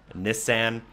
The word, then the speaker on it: Nissan: 1998 Nissan r390 or some of you may pronounced miss San for purposes of this video will be pronouncing in Nissan as that's how it is pronounced in most of Ontario at least which is where I